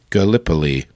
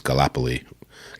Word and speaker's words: Gallipoli: Gallipoli okay Gallipoli interesting I thought it was kalapa Lee Gallipoli got a little early but that makes this lip Polly even though the way they pronounce it sounds like it should have two peas in the middle but whatever okay where